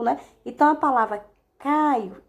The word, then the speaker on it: Caio: Olha só, Caio, né? Pronuncie direitinho. Caio é escrito com O, mas quando nós falamos, parece que é com U.